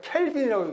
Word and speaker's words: 켈빈: 약 1000만 K 절대 온도를 이거는 어떻게 있냐면 켈빈이라고 읽습니다.